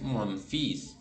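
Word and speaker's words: fils: es hermana Mi hermana atención a la pronunciación de hijo monfís mi hijo es monfís no se pronuncia la l Y en este caso sí se pronuncia la s final Moon hija se dice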